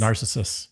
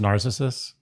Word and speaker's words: Narcissus: Narcissus. Yeah. His name wasn't pronounced Narcissus. Narcissus. You're right. It is Narcissus.